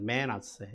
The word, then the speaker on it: 므낫세: 이 므낫세라고 하는 그 이름은 히브리어로는 메낫세라고 합니다. 메낫세. 이거 이제 음역해서 우리가 므낫세라고 읽습니다만 어떤 의미냐면 잊게 하는 자라고 하는 의미입니다.